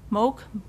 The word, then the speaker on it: MOOC: go take a and is it pronounced mooc moak classes m-o-o-c that's correct it's it's uh stands